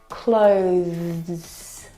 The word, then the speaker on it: clothes: It needs to sound different from the verb close, okay, which doesn't have the TH sound. This word has the TH sound. Clothes.